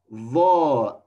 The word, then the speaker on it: ظ: Second letter is Va, Va letter. Va is a heavy sound of Vel. Vel, you should pronounce it. Keep your tongue out your teeth while you pronounce Vel.